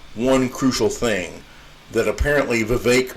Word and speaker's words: Vivek: crucial thing that apparently Vivek rhymes with cake ramaswamy does not understand